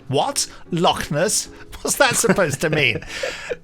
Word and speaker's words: Loch Ness: Loch Ness, pronounced with the appropriate inflection, of course. Loch Ness. Loch Ness, yes. Which is written here carefully, Locknuss.